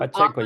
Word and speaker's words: Pacheco: From Pacheco, yes.